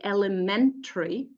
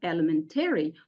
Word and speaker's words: elementary: so for example in this word we say Elementary not Elementary why because the syllable before the a or Y is stressed